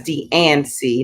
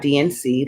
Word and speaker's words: D and C: to get a dnc that's d and c not dnc like i've taught my whole life i've been taught been saying it wrong who would have thought